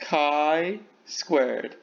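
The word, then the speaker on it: chi-squared: like a fancy axe symbol here it is pronounced chi squared we have two conditions the expected counts are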